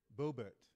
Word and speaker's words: Boebert: So, there's a congresswoman, Lauren Boebert, okay? How do you pronounce it? Boebert.